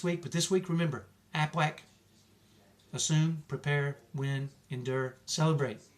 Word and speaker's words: APWAC: I think it even says you have to pronounce it like a duck. APWAC, right? Okay.